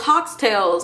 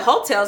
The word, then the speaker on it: Heaux Tales: how to pronounce it I really thought it was Haw tailes I really did there's no I refuse to believe that I'm the only person here that didn't know how to pronounce it it wasn't until like I think it won an award or something or maybe Jasmine herself said it and she said hotels I was like no